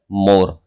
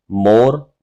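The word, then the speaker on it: more: में एक वर्ड है मोर। दोनों के प्रोनाउंसिएशन पर गौर कीजिएगा, दोनों के साउंड मैच होगी। जैसे मोर डोर, इनको मूर और डूर नहीं पढ़ा जाएगा।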